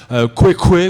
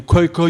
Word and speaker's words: Khoikhoi: Non, on peut prononcer comme on veut en réalité, parce que plus personne n'est là pour dire comment ça se prononçait réellement. Khoikhoi ou Khoikhoi ou Khoikhoi, ça veut dire les hommes parmi les hommes par excellence.